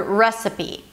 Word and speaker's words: recipe: Here you begin with an R sound round your lips and then the as in red. Re. Now that's the primary stress, so this syllable is going to be higher in pitch than the rest. Recipe. So it's re, se, schwa, p. A p sound and a high e.